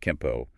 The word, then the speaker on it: Kenpo: Spelled with an N, but often pronounced Kempo when N is followed by P, just phonetics.